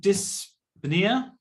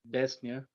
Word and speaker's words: dyspnea: So presents with dyspnea. Presented, isn't that one? Dyspnea. Yeah, can you help me with the pronunciation, sir?